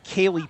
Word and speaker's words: Ceilidh: There is a woman named Kaylee Pate for the Midnight Suns. It's spelled the Scottish way, Ceilidh.